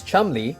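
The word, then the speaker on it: Cholmondeley: Officers you and Montague and Charles Chumley don't know why it's pronounced that way either saw the memo and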